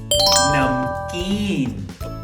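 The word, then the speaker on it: نمکین: Salty in Urdu is namkeen.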